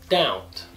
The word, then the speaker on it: doubt: Então, pronúncia dessas palavras seriam debt, debt, doubt, doubt.